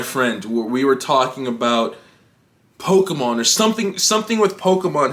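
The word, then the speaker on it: Pokémon: pronounce it it's japanese it's japanese it's po ke mon it's not ki it's k it's poker thankfully however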